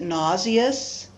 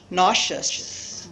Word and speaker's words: nauseous: So 2 syllables, nauseous, nauseous, shus. Very easy. The spelling looks very complicated, but the pronunciation is not.